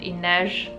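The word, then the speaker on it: Inej: by the way I looked up how to pronounce her name and Inez is the correct way to pronounce her name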